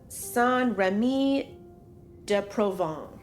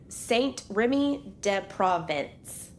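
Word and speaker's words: Saint-Rémy-de-Provence: In 1889, Vincent voluntarily admits himself to the asylum at Saint-Remy-de-Provence. You go. Oh, I will tell you phonetically on the page, it looks like Saint-Remy-de-Provence.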